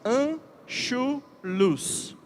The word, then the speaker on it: Anschluss: E ficou conhecida por um nome que eu vou pronunciar, deve estar na sua apostila, e lembre-se disso. Anschluss.